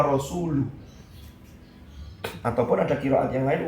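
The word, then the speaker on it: رسوله: Annallaha bari'um minal musyrikin wa rasulih. Kaget loh. Kenapa? Karena bacaannya yang beredar di Kufah itu mestinya Annallaha bari'um minal musyrikin wa rasuluh.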